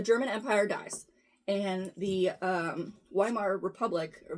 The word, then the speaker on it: Weimar: So Hitler, after World War II or World War I ended, the German Empire dies, and the Weimar Republic, or Weimar? Germans pronounce it Weimar.